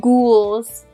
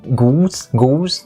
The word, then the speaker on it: ghouls: It's the ool sound, ghouls. Yeah, ghouls. Okay? Don't say goose. It's not the bird. No, it's not It's a not goose.